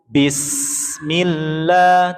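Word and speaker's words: بسم الله: Tadi ada yang bacanya bis tapi langsung bism bukan bisah bnya panjang dulu jangan ya tapi langsung bismillah tuh bismillahirrahmanirrahim silakan.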